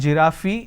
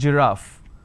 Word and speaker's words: giraffe: giraffe starting with G it's not G ah fee it's giraffe and we have a